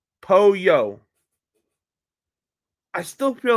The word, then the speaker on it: pollo: Okay, put a P in front of yo-yo, and it sounds similar, just not spelled the same.